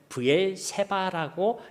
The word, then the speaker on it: 브엘세바: 세바라고 발음을 하면 7이라는 의미가 되는 것이고, 쉐바라고 우리가 발음을 하면요, 이것이 완전한 맹세라는 의미가 되는 것입니다.